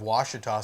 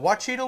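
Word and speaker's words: Ouachita: crazy to me that he butchered the pronunciation of Washita so bad. But he said, "Oh, I'm doing a meet and greet down there at such and such boat sales at right off of Wachita Lake," and I was like,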